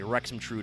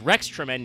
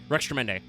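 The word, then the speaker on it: Rextremende: I think I've heard some people say Rexrude or something before. No, it's it's Rex Tremend. It's just they took out the space. So, it's Rex Tremend.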